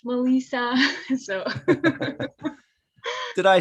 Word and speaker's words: Melissa: All of those are Melissa, Malissa, but it's pronounced Melissa.